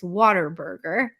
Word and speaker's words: Whataburger: But Whataburger, if you're gonna, it's not Whataburger, it's Waterburger. If you want to do it as a Texan, Waterburger. Waterburger. Yeah, because people always go, it's Waterburger, and you're like, yeah, it's Waterburger, and they're like, but it's spelled Whataburger, and you're like, you're doing it wrong.